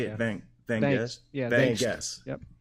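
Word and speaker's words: Vangst: Van Guest?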